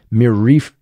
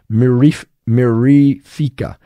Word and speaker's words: mirifica: And this one is also particularly difficult to pronounce. And it's Pruraria mirifica. So I'm going to spell this out for you. It's P-U-E-R-A-R-I-A, Pruraria mirifica.